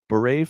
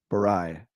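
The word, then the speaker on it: Burai: How do you say this next one? Beret fighter? Barai. Right? Bree? Barai fighter by Taxon. Yeah, I'd 8? say Barai.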